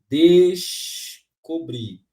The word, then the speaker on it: descobrir: a outra pegadinha aqui descobrir separa mas o s e o c tem seus sons o quê respeitados eu